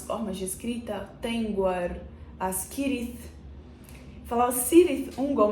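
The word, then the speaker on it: Cirith: de escrita tar as kirit falar sirit UnG mas não é sirit eu descobri que é kirit porque nos apêndices há uma explicação de como deve ser feita a pronúncia das palavras e no meu vídeo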